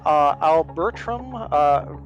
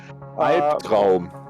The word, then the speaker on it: Albtraum: We have Chris the Panth in his Albertram Verschram. I cannot pronounce that. I'm sorry, my German bros. Albtraum.